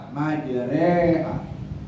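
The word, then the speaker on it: مجراها: Majreha. Tulisannya majriha, bacanya majreha karena imalah.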